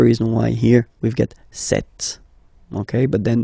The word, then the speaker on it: cette: Ce, or then set, féminin set. So you can notice that phonetically these two are pronounced the same way. Okay, set here and then set here.